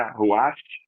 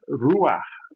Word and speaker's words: Ruach: pela pronúncia né porque a expressão correta não é rash nem tampouco ruar o correto é ruar esse ruar é só lembrar daquele R de barata aquele r de paralelepípedo que aí você vai ter a pronúncia ruas acodes Então é só lembrar